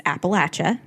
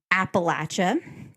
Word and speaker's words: Appalachia: It's Appalachia.